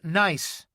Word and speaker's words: NIS: It's called NIS, pronounced nice nanotransponder identification system.